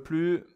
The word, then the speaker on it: plus: négation basique ne plus attention le plus je ne prononce pas le S ne plus d'accord ne